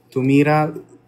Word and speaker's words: tumira: tumira Yun nga eh tumira accent on the last syllable tumira Yes Sorry poo